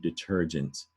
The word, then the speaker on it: detergent: right became the word detergent because it had to do with wiping weights detergent that's a soft g and a detergent is